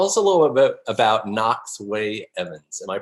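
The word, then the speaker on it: Knox Wei-Evans: So tell us a little bit about Knox Way Evans. Am I pronouncing it right?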